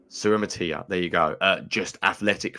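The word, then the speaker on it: Suamataia: I will not pronounce his name correctly, but Kingsley Suamatia. Suramatia, there you go.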